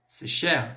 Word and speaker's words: cher: um filme que e com as palavrinhas que tem um r a gente vai pronunciar também por exemplo share share mon cher ami meu caro amigo eu